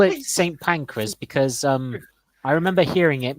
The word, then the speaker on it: Pancras: I think it's pronounced St. Pancras. St. Pancras, yes. I keep Yeah, saying I keep saying the word Pancras because it's a weird name. It always sounds the same as pancreas.